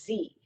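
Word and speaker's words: ze: So, for example, some people want to refer to themselves as Z, that's spelled Z-E, or here, pronounced spelled H-I-R.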